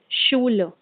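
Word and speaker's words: Schule: our third रूल इज अगर कोई एस सी एच से है तो वह साउंड करेगा श की तरह for example शूल so something other example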